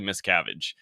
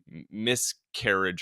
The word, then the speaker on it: Miscavige: and I also think he butchered the last name which even made a little more confusing for people he said like miscarriage or something like he he didn't say the name properly so a lot of people